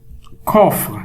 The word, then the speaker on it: coffre: Coffre. La lettre C est suivie par O. Alors, on la prononce K.